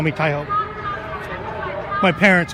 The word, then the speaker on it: Taiho: Tie, T-A-I, or like bow tie, phonetically, T-A-I. Taiho, short. My friends call me Taiho.